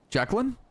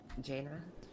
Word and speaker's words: Jaina: Jacqueline? Good enough. How do you say it? Jaina. Oh, Jaina.